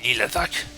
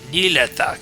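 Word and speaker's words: Nihlathak: That's Snake Nilathak. That's how you pronounce it. Nilathak.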